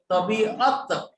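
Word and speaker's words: طبیعت: हा, इथे य नाही येतो मुळामध्ये, तबियत असं येते, पण मराठीमध्ये आपण उच्चार करताना तब्येत किंवा तबियत असं, हिंदीमध्ये, उर्दूमध्ये सुद्धा तबियत उच्चार करतात, पण स्पेलिंग मध्ये मात्र अयन वापरलेलं आहे, तबियत.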